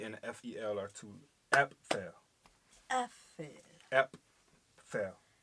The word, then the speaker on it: Apfel: They saying the p. Yes. I don't hear the p. Yes. He actually says the p. Apfel. Apfel. But it's not a hard pronunciation. If you ask me, it's more like a sliding it in, like Apfel.